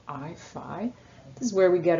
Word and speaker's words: phi: this greek letter here so it rhymes with pi but it's spelled phi any time you get